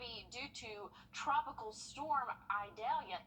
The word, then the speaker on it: Idalia: due to Tropical Storm idalia idalia there we go sure I pronounced that right tropical storm e-dalia so that's going to